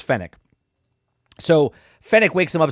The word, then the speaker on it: Fennec: uh his his henchman is it pronounced fennick yeah it's fennec so fennek wakes him